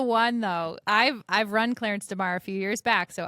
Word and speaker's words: Clarence DeMar: calling him Delmar, so it's not that Delmar. So it's it's it's Pronounce it correctly for me. Clarence DeMar.